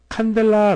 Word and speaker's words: 칸델라: cd 라고 하는 것은 칸델라 라고 하는 빛의 강도를 나타내는 기호입니다 탐 벨라 아 뭔가 유사한 타다가 떠오르죠 예 맞습니다 캔들 초저 초 양초 캔들이 어원이 된 그런 단위 인데요 칸델라 라고 발음을 하구요 이것이 초 1 개